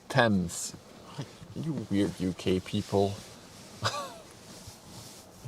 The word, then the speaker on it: Tees: was the biggest in the world tees is pronounced TS you weird UK people I see an a